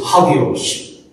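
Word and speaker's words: ἅγιος: It's pronounced like this, hagios. That's what Paul wrote, hagios.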